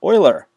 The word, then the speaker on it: Euler: paths and euler circuits notice this is pronounced euler like an oil can or the edmonton oilers i always think the